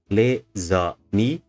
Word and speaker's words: les amis: We have 3 syllables, les amis, but the last one is stressed.